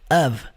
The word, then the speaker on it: of: AV.